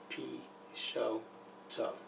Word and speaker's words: Peixotto: to pronounce the x because the x is silent it's pronounced p show tough piece man fire fire